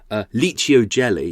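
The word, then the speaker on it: Licio Gelli: Like, so Liccio jelly, it's not spelt as you would think it would be spelt.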